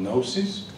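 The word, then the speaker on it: Knowcis: on online are called gnosis so k-n-o-w-c-i-s yeah which is kind of short for knowledge cities but it also rhymes with the greek word gnosis which means knowledge and although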